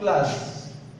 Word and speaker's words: clause: इसका right pronunciation होगा class. जो right pronunciation है यानी उच्चारण जो इस वर्ड का है वो है class.